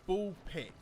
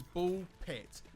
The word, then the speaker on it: BALL x PIT: Before you come at me, yes, it is Bull Pit. We don't pronounce the X. We don't say cross. It is Bull Pit.